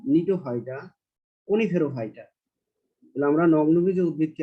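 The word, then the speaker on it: Gnetophyta: এই 4টি বিভাগ হলো জিঙ্গোফাইটা, সাইকেডোফাইটা, এখানে জি এর উচ্চারণ হবে না, নিটোফাইটা, কনিফেরোফাইটা।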